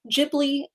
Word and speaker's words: Ghibli: studio is it ghibli ghibli i always say i think it's ghibli i think it's the soft g yeah but it depends